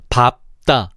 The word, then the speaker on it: 밟다: 그 사례로 밥 계열과 넙 계열이 있는데 먼저 밥 계열을 보면 밥다의 밥이 초성 자음을 만날 때 밟다, 발소, 밟지, 밟는, 밟습니다가 아니라 밥다, 밥소, 밥지, 밟는, 밟습니다라고 발음해야 돼.